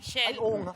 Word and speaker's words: Chel: Chel. Ano, how do you say your name? Chel? Chelly? Shell. Chel.